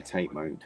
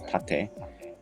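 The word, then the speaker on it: 縦: heard tarte mode yeah well it's it's japanese that means vertical obviously mode is not japanese that's english but it's in the that what you're saying is tate is a japanese word and it is tate and it means vertical okay so yeah i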